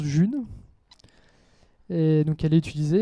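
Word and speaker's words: Ğ1: depuis mars de l'année dernière et elle se prononce Jules et donc elle est utilisée elle est créée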